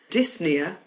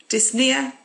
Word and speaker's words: dyspnea: have Nia meaning breathing dyspnea means difficulty breathing so Nia is our suffix for breathing dyspnea difficulty breathing you don't pronounce the P but in the next word you do so app near and